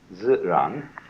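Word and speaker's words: 自然: To do that, to act naturally, you have to understand this word, which in Chinese is called ziran.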